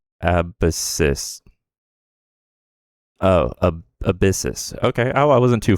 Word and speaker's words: Abyssus: Oh, ab abyssis. Okay. I I wasn't too far off when I was trying to pronounce it the other day.